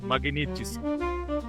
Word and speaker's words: Magnitsky: E esse tema atual sobre o magnetisque, é assim que se pronuncia, doutor magnetisque.